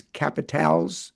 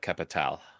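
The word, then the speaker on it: Capitales: The French pronunciation is capital. It's spelled with an E S at the end. Yes. Although you would not pronounce the S. So you would say it would be the Quebec capital.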